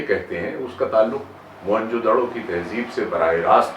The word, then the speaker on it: موہن جو دڑو: اور کیا جاتا ہے۔ میں یہ وضاحت کر دوں کہ وہ لفظ ہے موہن جو دڑو، یعنی مرے ہوئے لوگوں کا ٹیلا یا مرے ہوئے لوگوں کا قبرستان، موہن جو دڑو۔ اس کو موہنجو داڑو یا ڈارو اور کئی اس کے تلفظ رائج ہو گئے ہیں، لیکن ضرورت اس